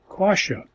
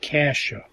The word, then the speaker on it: Coscia: great joy here because our last name is Kasia spelled the same as st. Rita's name except we have the vowel O instead of a as the second letter and this was totally unexpected the same sounding name miracle some people would